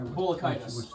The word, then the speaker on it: Balatka: play by balatka sensors how do you say that balada case I'm sorry Bullock itis Bullock itis thank you well the kind of